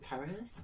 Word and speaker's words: Paris: primer from l'oreal perry some of you guys might pronounce it paris i pronounce it perry okay so this is